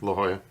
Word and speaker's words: La Jolla: La Jolla. La Jolla, sure. Is this what it's called? La Jolla? Yeah. That's how you pronounce Lajolla.